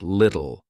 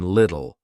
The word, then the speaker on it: little: about out a little notice the two T's in the middle native speakers often drop them so it sounds like little or even little we also connect the